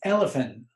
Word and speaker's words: Elifin: It's not because it's not Elfin, it's Elifin, like elephant without the T.